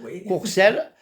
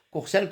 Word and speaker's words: Courcel: a C I e Courcel Courcel comme ça se prononce avec de l évidemment mais pas de s à la fin hein voilà coursel